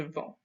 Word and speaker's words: vends: And it's not je vends, because we don't again say the S at the end. It's je vends.